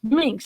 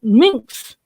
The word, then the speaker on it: Minks: It's Minks, Minks, and everybody calls it minx with no C.